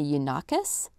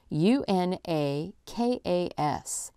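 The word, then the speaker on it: Unaka: it was originally found in the yoas mountains I hope I'm pronouncing that right in North Carolina it's una K mountains in North Carolina and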